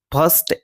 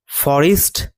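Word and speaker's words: forest: ওকে, তারপরে এখানে এই শব্দটির উচ্চারণ কিন্তু ফরেস্ট নয়, এই শব্দের উচ্চারণ হবে ফরেস্ট, ফরেস্ট। অর্থাৎ শেষে যে REST আছে সেটা কিন্তু রেস্ট নয়, রিস্ট হবে।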